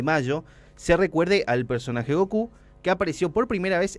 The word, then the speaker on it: Goku: por las coincidencias entre la pronunciación del nombre Goku y los números c y nu en japonés Ah Es Go y q Ah claro Mira bu